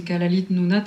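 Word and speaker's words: Kalaallit Nunaat: mais le nom officiel donc c'est le c'est Kalalite Nounat c'est donc Nounat c'est l'île et donc Kalal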